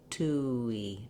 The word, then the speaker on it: touille: 2 e 2 e you won't see it in the ipa of the dictionary for this version it just happens naturally as your lips move because if i say 2 e without any gliding it would be breaking the word up too much so you will hear a little bit of a wii at the end tui in this pronunciation